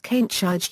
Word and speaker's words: Kaneshige: He is also known as Kainshiji using the Japanese pronunciation of his name.